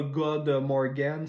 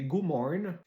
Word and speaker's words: Godmorgen: Donc c'est pas God Morgan, c'est Godmorgen.